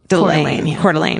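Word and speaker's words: Coeur d'Alene: Cordelane is how you say it.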